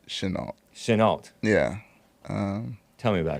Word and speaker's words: Chenault: Chenault? Is that how you say it? I pronounce it Chenault.